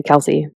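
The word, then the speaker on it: Kelce: soon to be possibly Kelsey. And actually the right way to pronounce that is Kels, but everyone started saying Kelsey, so it's Kels.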